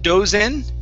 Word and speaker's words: dozen: Next is dozen. Instead of dozen, do, it's duh, dozen.